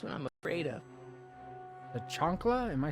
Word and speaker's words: chancla: I thought that L was an I. So I thought it was a Chancia and not a Chancla. I feel bad for mispronouncing it.